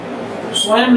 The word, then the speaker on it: स्वयं: जैसे एवं लिखते हैं, स्वयं लिखते हैं, तो इसमें हल्का मकार का उच्चारण आएगा। स्वयं स्वयं ना नहीं आएगा, म का हल्का उच्चारण आएगा।